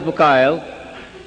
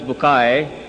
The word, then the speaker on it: Bucaille: scientist and a scholar of quran dr maurice bukhail pronounced as maurice bukai am i right doctor doesn't matter okay he's